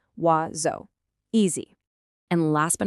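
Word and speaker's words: oiseau: But oi just makes a w sound and o makes an o sound. So, it's not six different sounds, it's just two. Wzo.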